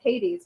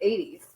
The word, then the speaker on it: Hades: we're being legit like you know Hades we wouldn't pronounce that with an age if we're in if we're in Greece that we just you know we don't pronounce the ages it's 80s right I'm not going to